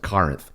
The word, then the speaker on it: Corinth: rockness you pronounce it Corinth Corinth I've heard a lot of people from Corinth pronounce it kenth well now that I'm